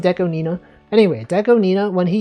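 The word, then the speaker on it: DECO*27: Remember when Deco Deon Nina also people call him Deco 27, but he's Do you know it's pronounced Deco Nina?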